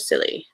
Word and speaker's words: Scilly: Set on the Isle of Scilly. I don't think you pronounced the C in that case.